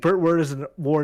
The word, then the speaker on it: Burt Ward: It rhymes with baby on board, I can tell you that much.